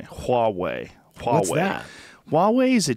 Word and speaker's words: Huawei: They have a Huawei phone. I'm saying it wrong. Apparently, people correct me. Huawei.